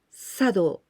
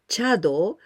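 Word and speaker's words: 茶道: Sado, tea ceremony. Sometimes we can pronounce chado, but nowadays we usually pronounce sado, because sado is very important.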